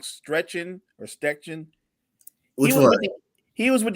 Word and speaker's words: Steichen: Stretchen. Which one? He was with the Eagles. He coached up Jalen Hurts. Shane Steichen.